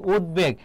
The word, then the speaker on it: উদ্বেগ: তাহলে উদ্বেগ এর উচ্চারণটা কি হবে? দেখো উদ তারপরে কি হবে? বেগ, এটি হচ্ছে উচ্চারণ। এবং যেখানে থামবে এবং কোনো কার থাকবে না সেখানে হর্ষচিহ্ন হবে। উদ্বেগ এটা হবে যেহেতু ব ফলা মাঝে আছে।